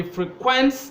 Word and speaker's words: frequent: or you can say he frequents the bar you know that is a verb and the stress is on the second syllable now so far about